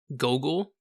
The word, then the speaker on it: Goggle: that Baron travels to is called goggle land which is just spelled like Google but with one o goggle and the man who